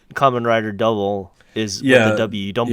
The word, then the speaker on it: Kamen Rider W: that's true to the kind of like how Kamen Rider double is yeah double you don't pronounce a come and rider W right you